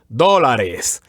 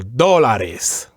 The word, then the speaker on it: dólares: So it would be pronounced dólares, and the accent would also be on the first syllable, on the o. So dólares.